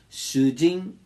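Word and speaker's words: 主人: Preste atenção na pronúncia. Shujin é o seu esposo. Go-shujin, esposo dos outros. Shujin, com um a mais, é um prisioneiro.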